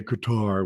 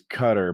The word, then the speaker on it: Qatar: He did a big thing about guitar like eight months ago and uh he's like Americans say Qar, which is wrong. The the right version is cutter, but the real right